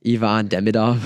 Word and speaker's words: Ivan Demidov: you just say was how do you pronounce it Evan demidov demidov okay yeah he's Russian so